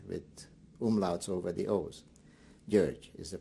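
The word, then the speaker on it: György: r g y with umls over the O's gge is the pronunciation and everybody calls me in Hungarian JY is like Georgie in what city and Country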